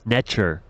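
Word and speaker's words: Neter: chesan cosmology and spirituality the concept of NTR pronounced natur or n holds significant importance nature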